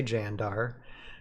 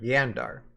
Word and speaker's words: Jandar: having like characters like characters from Earth say jandar um right and use the hard J but then you have like because yeah that's that's what that's how you would pronounce it yeah and then you have you have residents of Valhalla like uh like raylen and kelda they they called jandar yandar you know so I